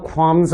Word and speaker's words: qualms: 그러나 l이라고 하는 사운드는 발음이 나지 않습니다. 그래서 qualms가 아니고 have no qualms about something 이라고 씁니다.